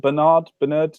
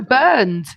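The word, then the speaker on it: Bernd: Is it Bernard? No, Burned. Isn't it? Burned Leno. Burned Leno. There we go. Got a German lesson now.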